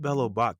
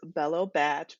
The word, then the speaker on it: Bella Bach: so it's actually pronounced bellow batch batch is short for bachelorette so i'm sorry oh